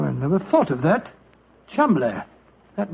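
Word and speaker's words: Cholmondeley: Being an American, he had no reason to know that the name Chuml is in no way pronounced the way it is spelled. Joe, I never thought of that. Chumlay.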